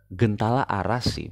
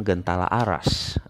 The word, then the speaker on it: Gentala Arasy: tempat lahir Abdurrahman sayoeti jadi bacanya Kalau menurut saya lebih tepat adalah gentala arasy bukan gentala arasy kalau entar Aa Kalau